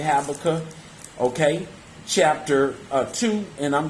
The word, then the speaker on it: Habakkuk: book of habakkuk okay some say pronounce it habakkuk but i say habakkuk okay chapter two and